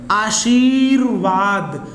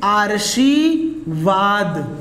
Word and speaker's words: आशीर्वाद: Rape संबंधित यहाँ पे जो गलती करते हैं रेप से संबंधित, जैसे यहाँ पर लिखा है आशीर्वाद और ये लिखा है आर्शीवाद।